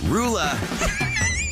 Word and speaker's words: Roula: How the heck do you pronounce this woman's name? Roula.